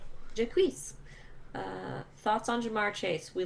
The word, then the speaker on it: Jacques: Yeah, that is Jacques, by the way. That's how you pronounce that. Jacques. Jacques.